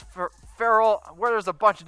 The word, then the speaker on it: Ferrell: sided and it's been for rail it's for Farrell where there's a bunch of different pronunciations I'm giving this one to Chuckie heads